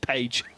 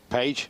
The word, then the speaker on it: Paige: we are sticking with Paige. Paige it's easy for us to say that's more English pronunciation isn't it?